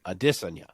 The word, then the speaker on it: Adesanya: broach the topic of how his name is actually Addison yeah and I'm like